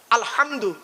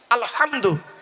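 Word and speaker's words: الحمد: না আব্বা বলুন না আলহামদু গলার ভেতর থেকে হে টা উচ্চারণ করবেন এই মা বোনেরা মা বোনেরা শুনছেন এই মা বোনেরা ভালো করে শুনে নাও আলহামদু গলার ভেতর থেকে হে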